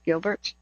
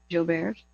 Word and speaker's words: Gilbert: bear which is pronounced Gilbert well I mean spelled Gilberts it's actually pronounced Jill Bears um the common genetic